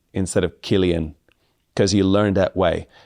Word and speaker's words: Cillian: from an Italian perspective, you learn that uh the the C sound in English, if it's followed by an I, is usually pronounced s. So, you would be Silian Murphy instead of Cillian Murphy.